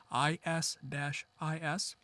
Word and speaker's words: IS-IS: There is Intermediate System to Intermediate System, IS-IS.